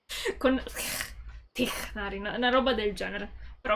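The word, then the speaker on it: Tighnari: Perché ho visto dei video in cui dicono che è una parola araba. Quindi questa zona è ispirata al Medio Oriente e all'Egitto. E all'Africa. E tecnicamente si pronuncia Tignari. Con Tignari, una roba del genere.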